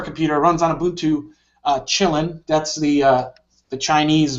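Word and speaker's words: Kylin: runs on ubuntu uh chillin that's the uh the chinese variant it's spelled k-y-l-i-n i think but it's pronounced chillin so that's pretty interesting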